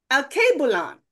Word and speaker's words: Alkebulan: it's Swahili, that Alkebulan, he was trying to correct my pronunciation. What is it? Alkebulan. I put that. Oh, that sounds better. Alkebulan. That's much better.